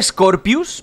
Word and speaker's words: Scorpius: clip dónde creo que me dicen que se pronuncia scorpius pero se escribe skorpios no ello pondré skorpios